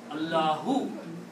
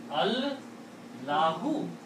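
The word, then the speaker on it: اللهُ: When we combine two words in Arabic, where the second word has an alif in the middle, we don't pronounce that.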